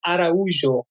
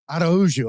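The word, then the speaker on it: Araújo: Yes, it's Araujo. Araujo. Okay, I was close. Yes, yeah. I was. I always try to pronounce names correctly.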